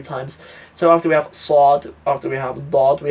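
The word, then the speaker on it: صاد: This isn't sad, it's sad. You sort of deepen the sounds, you pronounce it a little bit lower.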